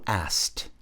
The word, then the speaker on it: asked: Então ela encontrou um lobo who asked que perguntou. Se liga na pronúncia, não é asked. Asked não. Esse K ele meio que vai embora.